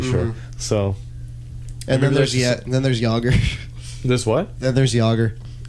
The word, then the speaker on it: Jagr: Like Jaeger. Like It's- as in Jaeger bomb.